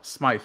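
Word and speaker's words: Smythe: I thought it was I thought it was SMI because it's spelled SM SM y t h e oh Smite okay got it I'm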